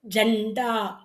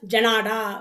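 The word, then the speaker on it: झंडा: நாவுக்கு ஜண்டா. ஜண்டா அப்படின்னும்பொழுது ஏன் அங்கே தொணக்கால் வரல அப்படின்னா, நாவை பாதியாக விடும்பொழுது இன்னுன்னு உச்சரிக்கணும். ஜண்டா. ஏன்னா இல்லைன்னா ஜனாடா வரும் இல்ல?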